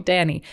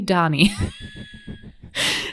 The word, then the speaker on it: Dani: I was like no I would like for you to call me Danny got it I'll call you Donnie and then in the